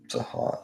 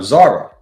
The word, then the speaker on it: Zara: So, Zaha Zaha Am I pronouncing your name correctly? Is it Zaha Za- It's no, Zara.